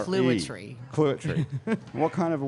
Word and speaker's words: Clouatre: It's like Clouatre. clue plus otter without the ER. It's a very strange name because it's not spelled like that. It's spelled No, C-L-O-U-A-T-R-E. it's spelled like Clouatre.